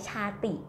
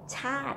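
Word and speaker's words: ชาติ: Okay, we have the word chat ni. This like chat. This word is a borrow word, so even though it's like chati, but we read chat, okay, with the falling tone.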